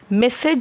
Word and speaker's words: message: পার্থক্য কিছু আছে কিনা যখন আমরা কোন বার্তার কথা বলি তখন তা হলো মেসেজ এম ই এস এস এ জি মেসেজ হলো বার্তা আর মালিশ